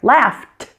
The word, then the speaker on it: laughed: Laughed.